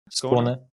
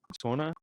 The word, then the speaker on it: Skåne: I mean, I'm a noted lover of the Nordic Cross flags, but yeah, how do you pronounce it? Skåne? Skåne. Skåne.